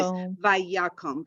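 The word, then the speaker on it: ויקם: Vayakum. Good. So we have the vi, we have ya. Accent is on ya.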